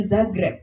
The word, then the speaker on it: Zagreb: Ternyata bacanya adalah Grosnyan dan Zagreb.